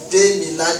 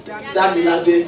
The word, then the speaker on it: Demilade: When we were to proceed, when we were to come in, I called him Damilade. He said, no, you didn't pronounce my name well. It's Demilade. So I said, I'm sorry.